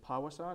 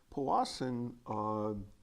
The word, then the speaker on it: Powassan: opportunity to talk about is it power song is that how you say it kawasan Boston yeah what the heck is this Powassan was a disease discovered in 1959 in Powassan Ontario and and so most of